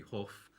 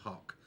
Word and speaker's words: Hough: straight from the start although it looks like to us in England it would be Huff it's definitely in Ireland that is Dean Hawk and you see there